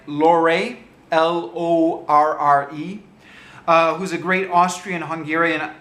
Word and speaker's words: Lorre: It's got Peter, I think I'm pronouncing this right, Lorre, L-O-R-R-E, who's a great Austrian-Hungarian actor.